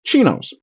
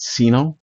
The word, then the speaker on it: CINO: So I said chinos. That's conservatives in name only. Um, I do pronounce it chino, not cino, so that is very clear what I'm saying.